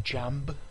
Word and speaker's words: Jamb: Or Jamb, however you want to pronounce his queer-mosexual name. Oh yeah. He made it clear. He told me. He was telling me, it's Jam. J-A-M-B.